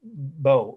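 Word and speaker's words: beaux: art in french it's bo e cole right of and then third word well after of is bo french for beautiful b e a u x right and then the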